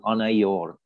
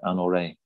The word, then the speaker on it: Anyor: we continue down towards this village called anayor or anorei either they pronounce it anorei and this village um